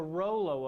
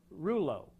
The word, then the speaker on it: rouleau: That's the Rollo effect, or Rouleau, depending on what part of the world you're from. The pronunciation varies.